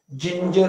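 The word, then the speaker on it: ginger: शंभर टक्के होणार नाही याचा उच्चार जिंजर असा होतो जुज म्हणजे या ठिकाणी पुन्हा ग लक्षात घ्या की जी या मुळाक्षराचा ध्वनी ग आणि ज हे दोन्ही असतात काही ठिकाणी स्पेलिंग नुसार शब्दानुसार त्याचा उच्चार ग हो होतो आणि तुरळक ठिकाणी कमी ठिकाणी त्या शब्दानुसार त्याचा उच्चार ज होतो या ठिकाणी आपल्या लगेच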